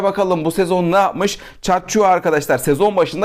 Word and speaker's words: Tchatchoua: chat chaı konuşacağız arkadaşlar değişik yazılıyor t ile başlıyor Ama chat chua diye okunuyor bu şekildeydi araştırmalar sonucunda